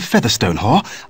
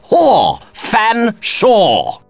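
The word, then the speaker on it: Featherstonehaugh: large drink then what ex excuse me Mr Featherstone Hall I presume I can't believe it no can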